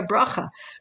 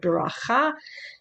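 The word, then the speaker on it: ברכה: Blessings of enjoyment, like Birchot Nehanim, where you just partake of the world and you say a bracha. Bracha is a kind of Ashkenazi pronunciation of the word beracha, Baruch, the same root.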